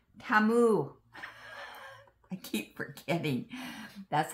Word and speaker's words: Temu: watching me um bag my team no it's TAMU TAMU I keep forgetting that's how the commercials say to pronounce it TAMU all right thanks for stopping by thanks for